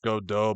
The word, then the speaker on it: Godot: Look, his name is actually pronounced Godot, but fuck that.